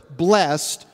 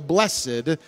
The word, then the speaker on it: blessed: it is the word blessed or we sing in a moment ago blessed depending on how you want to pronounce the word the word blessed it